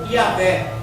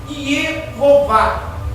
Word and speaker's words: Yehová: Então, para que se tornasse fácil na língua portuguesa de ser pronunciado, colocaram depois do I a letra A e depois da letra V a letra E. Aí ficou Yahvé ou Yehová. Y-E-H-O-V-A, para que nós pudéssemos pronunciar esta palavra.